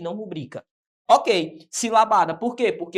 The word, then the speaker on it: rubrica: Por exemplo, a palavra rubrica deve ser pronunciada rubrica, tal, o qual está estabelecido aqui no nosso exemplo, ó, rubrica, sendo esta palavra uma paroxítona.